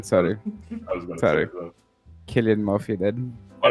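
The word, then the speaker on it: Cillian: collect you because I recently learned this it's pronounced Killian sorry sorry Killian Mafia then disconnected him okay do not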